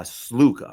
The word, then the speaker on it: Sluka: And um I think I I'm always going to get this guy's name wrong because I see it in my name in my head wrong. It's Matt uh Sluca, right?